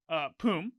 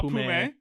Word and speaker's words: Poom: What's super interesting is Poom, who it's pronounced Poom, by the way, not Pume. Figured that out in a Travis Gafford interview when they asked him. It's Poom. He's silent.